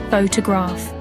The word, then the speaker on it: photograph: Take the word photograph. The stress is on the first syllable, photograph. But in photographer, it shifts, photographer.